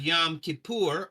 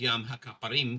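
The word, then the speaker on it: Yom HaKippurim: Then you have Yom Kippur. Actually, it's pronounced Yom HaKaparim because it's Day of Atonements, plural, not singular.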